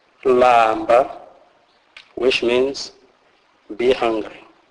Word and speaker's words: lamba: L is pronounced as in the English word land, e.g. lamba, lamba, which means be hungry.